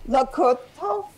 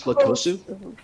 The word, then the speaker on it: Lakosu: And next is Achilles, or I hope I'm pronouncing this, Lakoto. It's pronounced Achilles Lakosu.